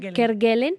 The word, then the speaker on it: Kerguelen: Kerguelen, si se pronuncia Kerguelen, Sí.